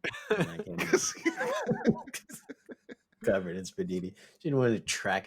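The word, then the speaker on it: spiedini: It's spelled sp i e d i n i. It is apparently said spaditi.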